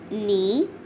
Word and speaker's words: knee: sunning herself the silent the letter k is is silent in these birds nose knit knee knob knocks nails knife